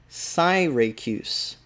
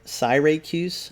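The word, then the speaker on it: Syracuse: in certain places and yeah people do pronounce this different ways but i have never heard the pronunciation that i'm reading here and it says and landing at cyracuse cyracuse we tarried their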